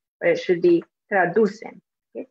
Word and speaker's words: traducen: They put the stress at the end and say traducen, but it should be traducen. Okay, traducen.